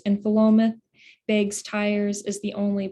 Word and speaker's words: Philomath: And it's a town name from Oregon, so it's pronounced a little oddly, Philomath, and it's short for the Greek word philomathia, which means love of learning.